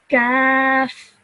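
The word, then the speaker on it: كاف: So a thick sounding letter, I would say Qaf, and a thin sounding letter of this, I would say Kaf.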